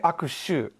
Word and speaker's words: 握手: So, zen-aku, first of all, I want to point out, don't say akushu. If you lengthen it, it's a bad smell.